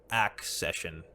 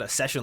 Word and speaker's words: accession: Accession. Fuck. I said accession like a fucking dummy idiot. Fucking god. This is very clear actually. Accession. Like accept. Accept.